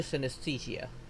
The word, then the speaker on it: synesthesia: CYN, sin, SES, the, THE, and SIA, SIA. Synesthesia. Oof.